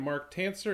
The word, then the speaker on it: Marc Tancer: is Warren Redlich I'm here with my friend Mark tan sir am i pronouncing it right mark that is correct Warren